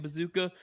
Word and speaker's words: Procházka: Remember last time we were like joking and calling it bazooka? No, it's straight up pronounced bazooka versus Jamal Emmers.